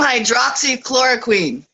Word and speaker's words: hydroxychloroquine: Team hydroxychloroquine.